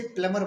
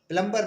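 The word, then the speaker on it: plumber: नल साज कहते हैं उसे प्लमर बोलते हैं प्लमर प्लंबर नहीं बोलते हैं चलिए मैं आपको छोटी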